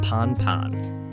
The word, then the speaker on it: Pan-Pan: problems Pilots use the word pan pan pronounced Pon pan to indicate something needs